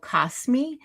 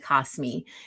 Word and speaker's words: Kosmi: So, I use an app called Kosmi. I think that's how you pronounce it pronounce it, k o s um m i Kosmi.